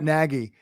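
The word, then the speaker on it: Nagy: ask the Chiefs about Negi right now hey I've been saying Negi since September yeah and it's December now finally people are saying it right Adam yeah it's true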